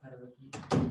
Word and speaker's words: heterogeneous: What's the second pronunciation of heterogeneous? There isn't one. It's just heterogeneous.